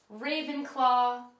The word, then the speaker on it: Ravenclaw: the four Hogwart houses they're all pronounced the way they they look but I'm going to pronounce them just in case Gryffindor Ravenclaw Hufflepuff and and Slytherin